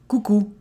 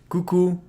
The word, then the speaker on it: coucou: Some people use “coucou” Coucou ! So here again, we pronounce everything O & U together are pronounced /u/.